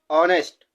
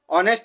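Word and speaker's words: honest: ईमानदार तो प्यारे दोस्तों यह वर्ड तो शुरू हो रहा है कंसोनेंट से लेकिन पढ़ा क्या जा रहा है ओ यहां पर एच साइलेंट है एच नहीं पढ़ा जा रहा है तो इसका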